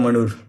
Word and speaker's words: Manur: Um I was just discussing if I have pronounced your surname correctly. It is Manur, right? Yeah, Manur.